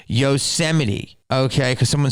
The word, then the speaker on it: Yosemite: your comment above for not being able to pronounce yosemite okay because someone said gyozamite or something damn now who's disgusting okay get